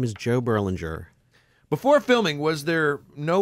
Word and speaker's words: Joe Berlinger: say your name so everybody knows how to pronounce them correctly when they're editing their own questions Bruce sinowski and my name is Joe Berlinger before filming was there no way to expect